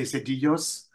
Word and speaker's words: Sedillos: Sedillos. The L becomes a sort of yeah, soft. So we say Sedillos.